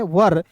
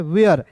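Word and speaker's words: where: बहुत लोग जो है इसे पढ़ लेते हैं वर लेकिन वर नहीं पढ़ना है दोस्तों। इसे पढ़ना है वेयर।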